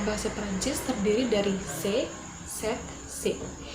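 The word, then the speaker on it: ces: Adjektif demonstratif dalam bahasa Perancis terdiri dari se, set, se. Yang terakhir ini pengucapannya sama, namun di akhir kata se ini ada huruf S, namun huruf S-nya tidak dibaca.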